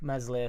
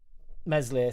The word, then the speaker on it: Meslier: That's why when people are so quick to kick Meslier, Silent S out, what do we have that runs through now? At the moment, Meslier, Silent S.